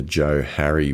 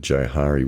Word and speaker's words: Johari: to mind with this which is called the the Joe Harry window or the Johari window if you prefer to pronounce it that way.